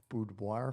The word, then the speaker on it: boudoir: it's strikingly fascinating to me but it's it's boudoir did I say it right yes boudoir photography mm-hmm so what is the name of